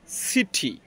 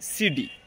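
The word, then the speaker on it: city: যেমন আমি যদি কয়েকটা উদাহরণ বলি, যেমন সিটি, সিটি, কিন্তু আমেরিকান অ্যাকসেন্টে এটার উচ্চারণ হবে সিডি, সিডি, অর্থাৎ শহর।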